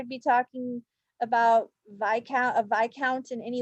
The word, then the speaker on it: Viscount: take it when I mispronounced the word vi count in a previous episode I said Viscount we all make mistakes